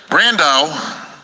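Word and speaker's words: Brandão: one observation here or the observation as it will be brandau rhymes with Sandow yep a lot of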